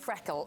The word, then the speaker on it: FRKL: it's spelled fkl but it is pronounced Freckle like a freckle I love excess I